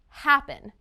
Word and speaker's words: happen: verb happen listen again happen it's the first syllable right listen to the pronunciation